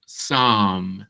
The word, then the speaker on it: some: Entonces, some se parece a una A, pero es diferente a la otra, que se escribe como una U.